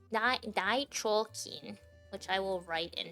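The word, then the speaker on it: 大腸菌: Yeah, like dichokin, which I will write in chat. Dichokin. That's how you pronounce it.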